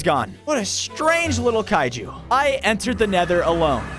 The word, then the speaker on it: kaiju: It's pronounced kaiju.